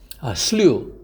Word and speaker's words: slew: slew, S-L-E-W, 여름에 많이 먹는 slush 알죠? 그를 slush의 SLU를 slew라고 읽어서 된 거라고 하면은 잘 외워집니다.